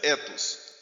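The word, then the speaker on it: ἔθος: Verificar aqui a letra, essa letra aqui é a letra epsilon, então se pronuncia ethos.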